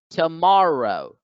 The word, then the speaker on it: tomorrow: word tomorrow tomorrow tomorrow here the second syllable has the stress mark the apostrophe so the second syllable gets accented it gets stressed it gets elongated so tomorrow tomorrow tomorrow next we